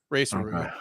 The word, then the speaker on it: Tsuruya: The T is completely. It's basically silent in English. Ray Tsuruya.